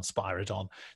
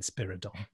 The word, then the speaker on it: Spiridon: time so I think you can take planet of the dcts which is set on spadon to be the the originator of the correct pronunciation yeah Sylvester McCoy's doctor was having a a bad memory moment when he said spiridon yeah I suppose there